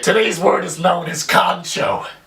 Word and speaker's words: kancho: word is known as kancho pronounced exactly the way it's spelled now the direct translation